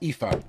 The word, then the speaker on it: Aoife: Pronounce Aoife.